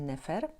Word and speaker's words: nefer: rysunek tchawicy i serca ponieważ wymawiamy go wtedy jak Onufry czyli tak jak Wam mówiłam Pozdrawiamy samogłoskę i wymawiamy nefer ale można też było